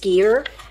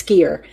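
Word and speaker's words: skyr: I think it's pronounced skier but I really don't know on that which why it might be sky but I think it's skier you guys let me know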